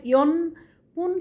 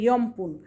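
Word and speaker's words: よんぷん: একইভাবে লেখার সময় ইয়নপুন কিন্তু বলবে ইয়মপুন।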